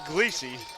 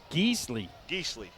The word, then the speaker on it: Geesley: by number 25, Jake Gleesey. I know I said that name wrong. Ball spotted at the 36, 4th down now. Jake Geesley.